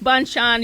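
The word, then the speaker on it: Bonchon: o n c h n how are we pronouncing this Rob bonan Bon bonan so yeah I go back Bon Chan give you some more my money for the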